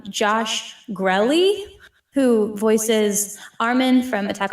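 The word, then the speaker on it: Josh Grelle: So I always used to say his name wrong. Now I know how to say it right. Josh Grelly, who voices Armin from Attack on Titan and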